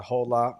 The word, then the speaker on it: hola: She said, hola, mi gente. You don't pronounce the H in that.